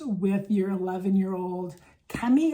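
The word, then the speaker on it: Kemi: your 11 year old Cami I think is how you say it k-e-m-i um you're like watching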